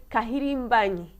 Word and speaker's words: Kahirimbanyi: I have Ben Kahirimbanyi.